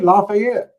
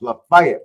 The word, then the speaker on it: LaFayette: You know, the first time I ever saw Lefay, I was like, "Hey, Lafayette. That's just like Louisiana." No, it's pronounced Lefay.